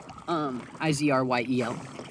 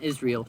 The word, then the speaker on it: Izryel: Izryel. Same pronunciation, Israel, just changed the spelling out of respect for Father Israel.